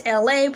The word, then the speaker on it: Elay: My name is Elay, pronounced like LA like the city.